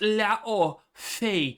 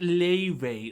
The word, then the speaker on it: Laufey: God of War's Laufey is pronounced Laufey, not Leve, like the musical artist.